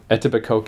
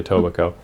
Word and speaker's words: Etobicoke: wouldn't have known that why would you not pronounce a K in a word and I'm very familiar because of French school with words that you just don't pronounce x's and stuff but I'm never seen I mean as presumably it's like a native word I guess but anyway